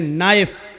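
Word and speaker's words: knife: शन बोला नहीं जाएगा जैसे इंग्लिश में नाइफ किको कहते हैं चाकू को नाइफ के माना चाकू लेकिन के लिखा जाता है बोला नहीं जाता वह साइलेंट रहता है नी माने घुटना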